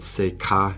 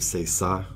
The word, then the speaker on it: ça: And there's another time he said c'est ca instead of c'est ça, which is kind of embarrassing.